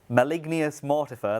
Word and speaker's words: Malignius Mortifer: Can we have the option to speak to Malignius Mortifer, that's how you say it, to bring back Neve from the dead?